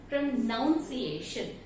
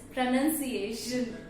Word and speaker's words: pronunciation: Many people pronounce this word as pronunciation. But if you see carefully, the spelling itself states it's N-U-N, not N-O-U-N. So the pronunciation of the word pronunciation is pronunciation.